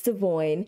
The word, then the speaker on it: Devoin: and devoine were fine and yes the correct pronunciation of his name is devoine he says so himself I forgot which episode